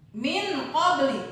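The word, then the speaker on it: مِنْ قَبْلِ: Dibaca samar antara bunyi en dengan bunyi eng. Contoh, min qabl. Min qabli, bukan dibaca min, tapi dibaca sama seperti huruf eng.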